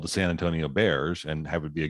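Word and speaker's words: Bexar: middle of bear county bear is spelled b-e-x-a-r i have no idea what the derivation of that word is but if you're not from there you look at b-e-x-a-r and you have no idea how you you're right but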